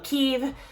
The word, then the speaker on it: Kiev: capital of Ukraine is Kev now there's lots of different ways to pronounce it um Keith but I think Kev is how they say it on the CD so that's how I'm gonna say it so we have